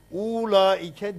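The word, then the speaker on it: أولئك: İşte burada diyor ki ula ike deme diyor burada. Kasır yap diyor. Çünkü Arap bunu böyle yazıyor diyor. Yazarken böyle yazıyor. Oradaki ula ike zamiri ancak böyle yazılır ama okunurken böyle okunur demek istiyor.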